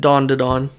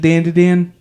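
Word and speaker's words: Dandadan: It's not pronounced like dawn to dawn. Until the dude corrected you and was wrong? Yeah, that's awesome. Insane. Typical liberal movements. True, dude. Is it Dan to Dan?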